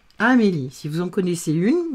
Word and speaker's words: Amélie: Et le E ne se prononce pas.